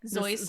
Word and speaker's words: Seuss: And because most Seuss. people use this pronunciation. Is it spelled the same way though? Like Zoyce and Zoyce and Seuss?